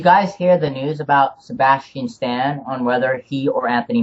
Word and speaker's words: Sebastian Stan: Marvel I I don't like the idea of Sebastian Sean uh wait Sebastian Stan is that is that is that did I